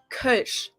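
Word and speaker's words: Kölsch: and that is called not super easy to pronounce with the omloud but it's Kush Kush now let's talk about beer brands this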